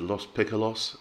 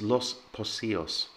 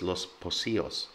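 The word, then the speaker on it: Los Pocillos: most um i've heard lost piccolos and los poccios and all kinds of things it's los pocios so the c in the middle of a spanish word is pronounced the same as an s and remember the double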